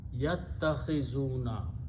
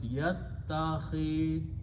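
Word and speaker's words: يتخذون: So, the word becomes yattakhizuna. When you combine this way, this alif is not pronounced and kha carries the kasra. So it becomes yattakhizuna.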